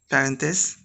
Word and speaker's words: parenthèses: Now we'll conjugate the verbs that are given in the brackets, parenthèses. Conjuguer les verbes entre parenthèses. As I've told you, this H is not pronounced, so we say parenthèses, not parenthèses.